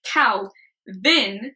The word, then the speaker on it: CalVin: of these ambassadors called kal then and it's pronounced that way because it's cow with a capital C and then with capital V child's one person and